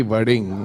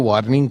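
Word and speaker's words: वड़िंग: नहीं, आपने तो अच्छा प्रोनाउंस कर दिया कि वरिंग, अदरवाइज कई तो वार्निंग कह देते हैं मेरे को।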